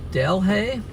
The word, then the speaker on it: Delhi: The roads are terrible and Delhi is pronounced Delhi. Delhi. I know Louisiana names are terrible.